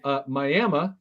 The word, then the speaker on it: Miami: They also have Miami, Oklahoma. Wait, no, not Miami. Miami, Oklahoma.